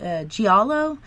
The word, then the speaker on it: giallo: has William seen any I think it's pronounced giallo GI al oh no well yes yeah I've